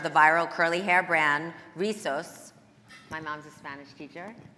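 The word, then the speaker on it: Rizos: um trailblazer in the hair care industry, founder of the viral curly hair brand, Risos.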